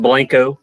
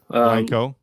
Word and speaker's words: Blanco: Yeah, it's pronounced Blanco. Blanco.